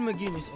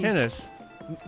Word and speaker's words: McInnes: Gavin McInness. Again, a question for you. Gavin McInness. McKinnis. Gavin McKinnis. McKinnis. It's a hard C. Yeah, there's no G's.